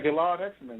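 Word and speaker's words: Gilad Hekselman: including by the way is this a correct pronunciation of his name because I just love his work uh Gillad Hexelman. Oh yeah Gillard Hexman. Yep. That's Yep. That's the right way to say it.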